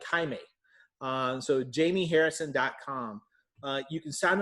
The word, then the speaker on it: Jaime: And Jaime is spelled a little differently, everybody. It's Jaime, like Jaime.